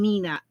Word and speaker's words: Meena: And although I spell it Meena, because my grandson started calling me Mina at a very little age. And then now everybody calls me Mina. Even my kids call me Mina.